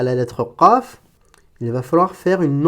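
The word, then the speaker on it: قاف: Alors on avait dit que la lettre Qaf, ça correspondait à un kaf emphatisé. C'est-à-dire que pour passer de la lettre kaf à gauche ici à la lettre Qaf, il va falloir faire une emphatisation.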